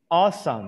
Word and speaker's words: awesome: um there is awesome awesome awesome you don't pronounce the w no pronunciation awesome like